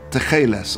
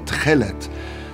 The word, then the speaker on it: techelet: It's called techeles or techelet.